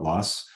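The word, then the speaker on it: loess: that next word is Luss l-o-e-s-s it's a German word I probably don't pronounce it correctly but in Illinois all the soil scientists call it lust alluvium stuff from streams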